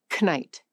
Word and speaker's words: knight: The K in knight, knife, no, kneel. All of those were once pronounced. A medieval English speaker once said every letter. Knight.